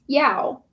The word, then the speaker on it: Yao: It's pronounced Yao. How do I know? Of course I know. Commander Yao.